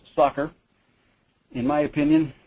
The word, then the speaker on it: SOCR: statistics online computational resource commonly known by its acronym SOC are pronounced soccer in my opinion its